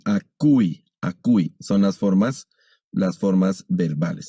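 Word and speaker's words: ἀκούει: Ese diptongo es legi y aquí acui.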